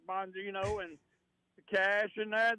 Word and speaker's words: Bongino: Bongino. Look, I'm this Trump guy. He acts like he's getting serious about doing something about all this crime. Yeah. As long as he keeps putting crazy people like Bongino and the cash in there, then, they're going